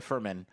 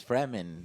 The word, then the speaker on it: Fremen: and then and then at one point i heard i heard the paul character in this film say the furman and i'm like no it's fremen yeah but okay so